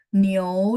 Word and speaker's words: 牛: 牛肉, 牛, ingat teman-teman, kalau iu bacanya iou ya, walaupun tulisannya nggak ada o, tapi ketika kita baca, teman-teman pastikan ada o supaya pronunciation-nya tepat.